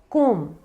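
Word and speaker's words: comb: Pronounce किया जाता है, जो कि है कोम। कंघी आप सब समझते ही होंगे, कोम्ब नहीं होता है, कोम, कोम। बी को हम साइलेंट रखेंगे।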